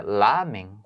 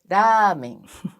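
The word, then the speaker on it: ラーメン: Ah, então não é lamen? Não, é ramen. Ramen, olha só.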